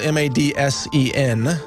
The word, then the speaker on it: Madsen: Wayne Madsen report common Madsen is spelled ma D Sen Madsen two syllables in that name Wayne Madsen report calm